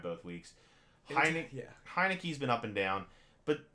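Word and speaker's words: Heinicke: Yeah, Taylor Heineke.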